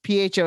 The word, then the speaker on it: pho: it is that how you pronounce that yes pho is pronounced so yeah yeah it's not pronounced that